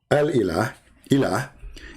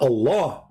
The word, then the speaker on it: Ilah: Still, it's ilah. It's not Allah. It is Il. Idiot. Il. Ilah. That sound at the end, the little tiny H, it's not really even an H. It's like a music sound.